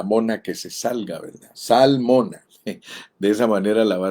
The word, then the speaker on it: Zalmona: Salmona. De esa manera la va a recordar, o también se va a acordar de la esposa del salmón. Solo que esta palabra se escribe con Z, salmona.